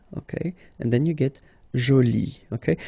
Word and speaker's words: jolie: And then you get joli, okay? So you can see that you put this E, but then you don't pronounce it, okay?